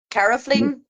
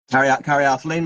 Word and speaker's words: caryophyllene: I'll let you pronounce easily. The dyslexia was coming out in me. Myrcene and caraflene. Caryophyllene, myrcene and caryophyllene.